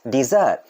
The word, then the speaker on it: dessert: place a desert but this one is like dessert dessert the spelling are also different dessert with double ass dessert that's how